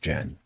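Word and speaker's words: Chen: This idea of of sound and loud and um those things or with Jen. Okay. Spelled C H E N.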